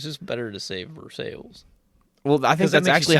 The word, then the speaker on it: Versailles: it is funny it's just better to save for sales well I think that's actually how they say it it is I'm pretty sure that they say everyone from Versailles calls it for sales yeah I'm pretty sure that's just how they